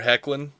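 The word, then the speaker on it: Hoechlin: Direction they have uh Tyler heckin which pronunciation provided by Scott of the suicide squadcast thank you I didn't know how to I didn't know how to say that Tyler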